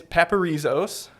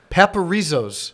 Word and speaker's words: Paparzos: It's Paparzos. Paparzos. Paparzos.